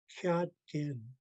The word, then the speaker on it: Jadgin: Tone mark over the last A. So I pronounce the first part low tone and the last part higher tone, Jadgin.